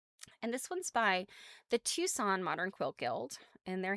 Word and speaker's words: Tucson: By the way, Tucson has a C in it. I always spell if I have to write something about Arizona and I type Tucson, I'm like, I know that is not how Tucson is spelled. There's some silent letter in there.